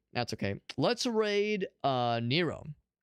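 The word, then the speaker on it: Nio: Let's raid uh Nero. Not the Greek emperor or Roman. Roman Emperor. Not the Roman Emperor Nero. Uh, this one is pronounced similar but spelled differently. This is Nero.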